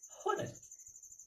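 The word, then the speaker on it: honest: होनेस्ट देखिए, होनेस्ट ओ का उच्चारण नहीं हो रहा है, उसमें मेरा नाउन छुपा हुआ है।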